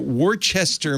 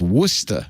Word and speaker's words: Worcester: Save me a little trouble there, Kim, because you wrote Worcester, Mass.